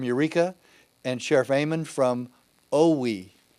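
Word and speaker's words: Owyhee: and Sheriff Aean from Oowi, I don't know how to spell it, but I know that's how you pronounce it. Owie County, Idaho, told the BLM to get lost.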